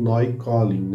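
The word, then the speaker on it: Neukölln: da cidade de Berlim chamado New Colin ou noy Collin em alemão a pronúncia como essa o nome estará aqui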